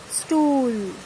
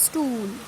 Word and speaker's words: Stuhl: H in the middle of the word use only for elongating the sound, stool. Okay, so H V is silent here. It's not hollow, it's stool.